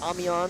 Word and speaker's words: Amiens: did some research and found the phonetic way to say it. Amian, the correct pronunciation.